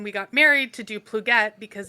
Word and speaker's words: Plogette: The correct way to pronounce it is Plugette.